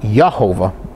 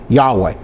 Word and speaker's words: Yahweh: replaced by something else perhaps it would have been replaced by jehovah but that would have been expressed at least in jehovah but it's more expressed more correctly as yahweh now we must turn